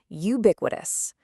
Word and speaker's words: ubiquitous: And yeah, that's pronounced ubiquitous.